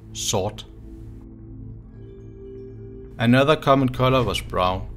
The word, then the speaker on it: sort: In Old Norse, black is pronounced svarta. And compared to Danish today, in Danish you say sort. So in Old Norse it's svarta, in Danish it's sort.